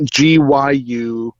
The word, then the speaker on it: Gyukaku: GYU-KAKU.